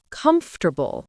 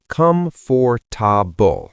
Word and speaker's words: comfortable: Comfortable. Many people say comfortable, 4 syllables. But native speakers say comfortable, 3 syllables. The or almost disappears.